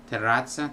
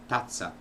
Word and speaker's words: terrazza: Terrazza, terrace became tazza, which is cup.